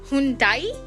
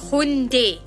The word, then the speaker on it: 현대: Hyundai, It's not Hyundai, it's Hyundai. Hyundai.